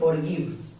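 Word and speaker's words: forgive: এর জন্য ভো শেষেরই সাইলেন্ট। তাহলে এর উচ্চারণটা কি হলো? ফরগিভ বুঝতে পারলা?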